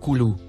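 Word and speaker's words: كُلُوا: Le deuxième, et le troisième mot, en surbrillance bleue, se prononcent respectivement, kulu, ou ashrabu.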